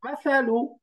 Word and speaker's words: مثل: এই শব্দটা وهو মাসালু, এটা বলেন তো, مثل মাসালু, مثل মা সা مثل সা সা, সাটা নরম, مثل মাসালু।